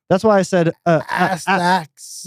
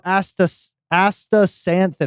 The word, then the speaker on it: astaxanthin: The X is what fucks me up. That's why I said Astax. no, astaxanthin. I think the X has that S sound.